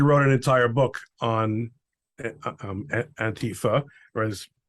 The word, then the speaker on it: Antifa: an entire book on antifa whereas as you pronounce it probably more accurately antifo you have a is